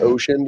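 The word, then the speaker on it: Wouxun: mean ocean uh wsen it's pronounced ocean even though it looks like it says Wen yeah sorry yeah it's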